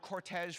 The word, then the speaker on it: cortege: The word cortege for her funeral, that's one of those words that is spelled in the French manner, but it's also pronounced in the French manner.